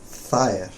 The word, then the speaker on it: Þeir: So your pronunciation of thair sounded suspiciously similar to thair. Oh, okay. Þeir.